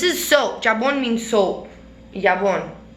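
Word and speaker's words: jabón: Jabon. Jabon. J is silent.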